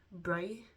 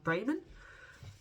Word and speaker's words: Braman: wheel and it's by Bra. Bra. Sorry. I'm saying your name wrong. Braman.